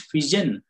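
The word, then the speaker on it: pigeon: Next ಫಿಜನ್, ಫಿಜನ್ ಅಂದ್ರೆ ಪಾರಿವಾಳ, ಇಲ್ಲಿ ಜಿ ಆದ್ಮೇಲೆ ಏನಿದೆ ಇ ಇರೋದ್ರಿಂದ ಇಲ್ಲಿ ಏನಾಗ್ತಾ ಇದೆ ಇದು ಜ ಉಚ್ಚಾರಣೆ ಕೊಡ್ತಾ ಇದೆ.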